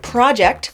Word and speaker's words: project: words project or project project stress on the first syllable is a noun meaning an individual or